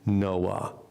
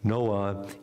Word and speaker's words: Noa: Hebrew names for women, Noah. And I have continued to belabor the point that Noah is a woman's name as opposed to Noach, which is a man's name.